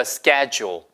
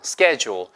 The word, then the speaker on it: schedule: The schedule. 아시겠죠? 생긴 거는 뭐라고 생겼어요, 여러분? SCH니까 이거 스체듀얼 이렇게 생겼잖아요. 근데 그게 아니고 schedule, schedule. 영국에서는 schedule 이렇게 발음하고요.